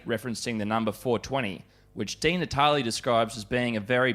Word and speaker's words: Di Natale: Well, Senator Di Natale, thank you for joining us today.